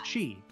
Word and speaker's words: Qi: reference to Eastern folklore how do you pronounce the word Qi see isn't it Chi it's oh my God you are the last person I thought was going to know that yeah it's Chi Chi that's what monks have